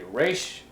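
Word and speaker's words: ריש: going to use it the following letter is a race and this is what I mentioned in the last video where if you listen to someone speaking Hebrew sometimes it might sound like Irish again where it's pronounced in the throat we'll just pronounce it like an English R I'm not gonna make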